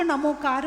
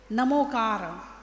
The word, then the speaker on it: णमोकार: उसका मंगलाचरण है ण नमोकार नमो अरिहंताणम ना नहीं ना नहीं ण अणणा ण ण अणणा नमो नमो यदि आपने ना बोल दिया नमोकार नमो अरिहताणम गलत हो गया अब वो संस्कृत में हो सकता है प्राकृत में नहीं हो